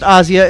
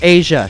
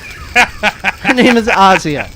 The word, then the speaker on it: Asia: by the way folks it is pronounced Asya it's not Asia she's not a continent Asya okay Goforth did you